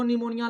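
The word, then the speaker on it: pneumonia: Mycoplasma को PPLO भी बोलते हैं, PPLO बोलते हैं, प्लूरो निमोनिया लाइक ऑर्गेनिज्म, ठीक है? निमोनिया का स्पेलिंग नो से नहीं होता, PS होता है, P साइलेंट होता है, इसलिए प्लूरो निमोनिया लाइक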